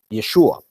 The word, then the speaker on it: Yeshua: in the Masoretic text this is pronounced Yeshua so well that you